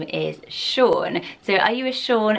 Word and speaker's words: Sean: spell additionally like this and the name is Shaun so are you a Shaun and if you